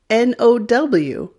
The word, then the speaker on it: know: example n-o-w is now but when you add a k in front of that n-o-w the ow changes to o no no click the link here